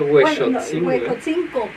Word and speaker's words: Huexotzingo: Y que se pronunciaba Huexotzingo. Huejotzingo. Y la X en náhuatl se pronuncia como así, Huexotzingo. Ajá.